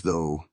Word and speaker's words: though: "Why is though spelled like that?" he asked, glaring at the word. "The gh is silent."